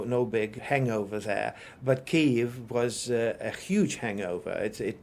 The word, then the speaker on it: Kyiv: among the reporters and anchors in the correct pronunciation of Kyiv. And it's almost unkosher to say it the old way, or if somebody wants to come across or perceived as being clueless, would still say Kiev, the Russian way.